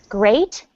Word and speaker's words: grate: gree greet the cheese grate the cheese great great dishes yes it's pronounced exactly the same as the word great and i'm sure you